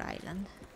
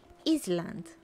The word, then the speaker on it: island: english of course um i could say iceland or something like that no not iceland iceland because yeah i mean that's that's how you i guess pronounce it in spanish iceland yeah i know right so same as isle i also pronounce like ice iceland or centennial oh my gosh yes english is difficult but i know now i know better i know it's island or something like that